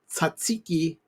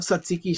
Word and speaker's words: tzatziki: I have a sample of the Lay's tzatziki wavy potato chips. Now, I love tzatziki sauce on my stuff at Greek restaurants, and this is just the flavoring of tzatziki sauce.